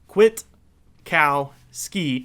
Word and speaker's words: Kwiatkowski: So Kwiatkowski is how you say his last name, just so we can get that all clear from here on out.